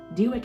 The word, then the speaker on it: DeWitt: DeWitt County, Illinois, yes, it's pronounced like that, has a space on the census but not its official government website.